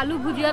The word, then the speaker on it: আলু ভুজা: খায় এই যে আমরা আলু ভুজিয়া তরকারি দিয়ে খেলাম ওটার দাম মাত্র ৳15 এক বাটি বারবার আমরা ভুল উচ্চারণ করছি উচ্চারণটা হচ্ছে আলু ভুজা আলু ভুজা আলু আলু